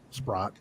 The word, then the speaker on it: Spratt: Renee asked the entity, she goes, we have permission from Alexis Spratt, because now it's pronounced Spratt. Back then it was Sprott.